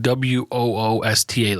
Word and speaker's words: Worcester: It's pronounced like WOOSTA, like Worcester, right? No, it's WORCESTER. That's correct. No H, but it's pronounced like Worcester. WOOSTA.